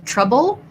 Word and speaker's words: trouble: Okay, so question about the words trouble and travel. So first of all, trouble has the schwa sound, first syllable stress.